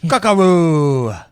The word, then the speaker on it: Kakarot: Yeah, Kakarot. It sounds Kakarot. French. Kakarot. Well, maybe- Kakaro. Kakaroo. Maybe Goku. Does the T silent? Kakaroo. That's how it's said.